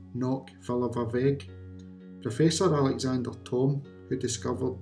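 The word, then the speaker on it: Cnoc Fillibhir Bheag: The Gaelic name for Callanish III is pronounced Nóc Filleadh Bheag.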